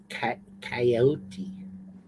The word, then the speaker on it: coyote: a lot of people spelling it ca that's coyote it's coyote coyote so joe where are you